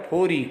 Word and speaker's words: फोरी: फोरी काठ में, काठ यानी लकड़ी, फोरी यानी मैंने जैसे कहा र का उच्चारण र करते हैं।